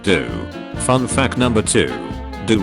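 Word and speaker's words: ドオー: minds fun fact Claude sire's Japanese name is pronounced do fun fact number two do roughly translates to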